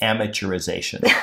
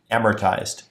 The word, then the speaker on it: amortized: I think it sounds like you're saying amateurization. Like an amateur. I'm an amateurization. Amortized.